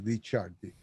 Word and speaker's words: Licardi: And my family is very Italian, as you know, Licardi. That's how it's pronounced over in Italy, Licardi.